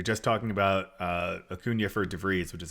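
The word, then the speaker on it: De Vries: If you're just talking about Acuña for DeVries, which is how you say his name, it's in Dynasty, you're like, wow, I'd love to have Acuña.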